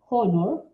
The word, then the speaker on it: honor: Esas palabritas no tienen el sonido de la J como sí tiene, por ejemplo, hat.